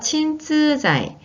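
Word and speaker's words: 鎮痛剤: 진통제는 우선 친쯔자이라고 일본어로 표현합니다. 같이 발음해보세요. 친쯔자이.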